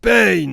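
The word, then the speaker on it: Pain: cad ce qu'est ben ça se prononce payne c'est pas la peine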